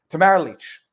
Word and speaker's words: Tamara Lich: of Tamara Leach and I double checked as to the four variations of the pronunciation of her name Tamara leech being arrested I think